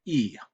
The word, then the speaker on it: y: Now we're going to look at the other strange object pronoun that we called them before, the Y, which is pronounced E.